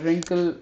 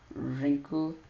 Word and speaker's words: wrinkle: um s so and then we have silent W like right ring uh wrinkle wrong most of them are followed by our right wrong wrinkle wrinkle and we are we